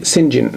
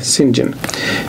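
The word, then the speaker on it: St John: جون يعني القديس جون انما بيتنطق سنجن سنجن لان بشوف في ناس بتكتبها سنجون القديس يون انما هو لا هو بيتنطق سنجن انما هي طبعا بتتكتب كده استي يعني سينت جون يعني القديس جون انما لما تقروا الروايه اقروها بالنطق ده سنجن المهم هو كان عائله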